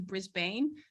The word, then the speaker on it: Brisbane: When I first applied, I was telling people I was going to Brisbane, but here it's pronounced Brisbane.